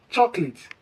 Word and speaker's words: chocolate: The correct pronunciation to this word is chocolate. Chocolate. It is quite wrong to pronounce this as chocolate. Why? Many people add an extra syllable, likely being influenced by the spelling.